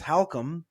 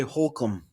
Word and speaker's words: Halcomb: So the last name is Halcomb, as in like if you were asking the question, how come, right? And people say Holcomb, and it just like my whole life, dude.